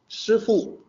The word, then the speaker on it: 师父: This actually comes from the Cantonese pronunciation of the two Chinese characters. In the more proper Mandarin pronunciation, it is 师父. So it is more SH than SHI than SI for the first character.